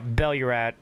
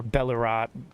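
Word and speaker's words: Belurat: get ready to do uh Bellorat, which is right here, or Bellerat, however you want to pronounce it.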